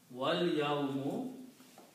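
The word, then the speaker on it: وَالْيَوْمُ: But when we read, combining these two words, wa and al-yawmu, again we do not pronounce this alif here. Combine waw with lam, so you pronounce wal. Wal yawmu, okay?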